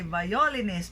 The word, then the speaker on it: violinist: Because we often hear people say violinist, but it should be violinist, okay?